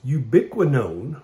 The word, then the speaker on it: ubiquinone: name for it is ubiquinone which kind of rhymes with ubiquitous and the reason they